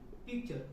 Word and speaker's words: picture: मतलब क्या कि T के बाद में URE आए तो T का उच्चारण च होगी, इसमें कोई संदेह वाली बात नहीं है।